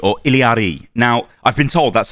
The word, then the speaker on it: Illari: I think most people are probably going to just say Illari, but I think it is pronounced Illari.